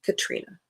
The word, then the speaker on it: Katrina: Now, that is how it is pronounced.